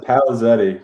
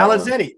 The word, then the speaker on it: Palazeti: How do you say your last name? Please last name Palazetti. Good luck with that. Palazetti.